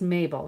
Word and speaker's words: Mabel: It is a pretty name and um it's it's pronounced Mabel though. So it's kind of like Maybelline but without the E.